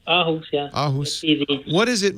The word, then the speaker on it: Aarhus: Hey, it's so nice to hear from you in Aarhus. Am I saying it right? Yeah, that's fine. Yeah. Oh, Aarhus, yeah.